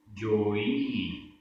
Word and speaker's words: जोई: जोई, जोई सो होई। जोई में ई बड़ी है और होई में ई छोटी है, तो उच्चारण में भी डिफरेंस।